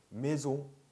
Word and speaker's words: maison: maison, maison, 네, on 발음, maison. 여기서 왜 on이 on이 됐는지 보실 거예요. 일단은 이렇게 알고 계세요. maison, 네, maison. on이 아니고요. on 아니고 on 발음이에요. maison.